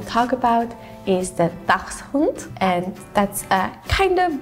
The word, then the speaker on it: Dachshund: It's similar. Dachshund, but you have more of like a dachs.